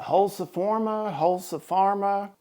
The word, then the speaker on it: Holzfforma: It's a Holzfforma.